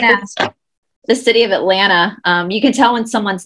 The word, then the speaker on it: Atlanta: They pronounce all the T's. But for locals, the T at the end is silent. It's just Atlanta.